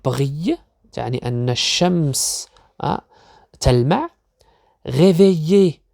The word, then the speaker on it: réveiller: réveiller إذا لاحظوا لدينا 2 L و L، لا ننطقها révéler، لا ننطقها réveiller.